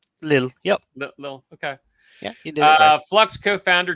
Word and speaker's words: Lille: as a blockchain as a service meetup in lille france did i say it right a little yup little okay yeah uh flux co-founder to demonstrate how